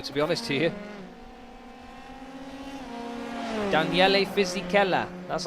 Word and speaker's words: Daniele Fisichella: Daniele Fisichella.